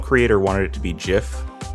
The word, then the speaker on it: GIF: wanted it to be GIF pronounced like a j sound specifically so he could make a pun off of the peanut butter like literally one of his quotes was choosy developers choose gifs so that's why I